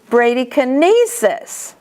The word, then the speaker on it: bradykinesis: And kinesis, the accent is on the E. Bradykinesis, hypokinesis.